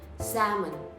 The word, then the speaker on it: salmon: แล้ว ทำ นี้ ออก เสียง ว่า แซม เหมือน salmon คะ เดี๋ยว ลอง ฟัง ดู นะ คะ The